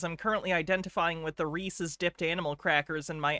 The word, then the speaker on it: Reese's: At least I say Reese's correctly. Yeah, Reese's. It rhymes with pieces.